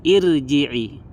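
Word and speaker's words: ارْجِعِي: di sini dibaca tipis irji'i irji'i tapi karena di sini kasrahnya itu tidak asli maka rnya dibaca tebal irjii irjii Nah itu dia eh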